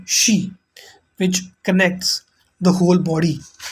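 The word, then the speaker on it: xi: screen the next is x-i z pronounced like she which connects the whole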